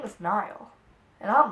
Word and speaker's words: Niall: And I realized that I've been saying my true love's name wrong for like 3 weeks, telling everyone I'm in love with Neal, and his name was Niall.